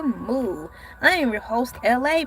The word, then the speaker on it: ELAY: I am your host, LA, pronounced like LA, like the city.